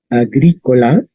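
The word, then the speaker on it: agricola: Agrícola sería agrícola. ¿Ok? Entonces, ¿cómo sabemos dónde está el acento en latín?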